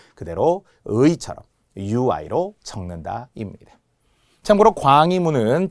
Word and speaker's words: 광희문: 자, 그럴 때 광희, 발음으로 보면은 희라고 발음해야 된다는 거예요. 왜? 자음 플러스 의니까 희망 희떡다처럼. 그런데 희라고 적지 않아야 돼요. 만약 희라고 적으면은 HI라고 적겠죠. 근데 이렇게 적지 않는다. 발음은 희가 되더라도 표기는 무조건 UI로만 적어야 합니다.